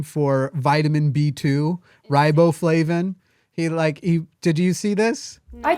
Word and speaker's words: riboflavin: You've got riboflavin." He said riboflam or riboflam or some weird. He didn't even pronounce the V at It all.